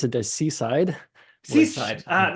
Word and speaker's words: SysIDE: IDE at the end but you call it suicide. Um yeah what actually is suicide? So first we we pronounce it as seaside.